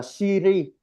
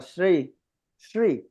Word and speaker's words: Sri: Chúng ta hay đọc là Siri giống như là trong tên hồng danh của tổ mình đó, là Ratna Sri. Nhưng mà ở đây chúng ta sẽ đọc là Sri.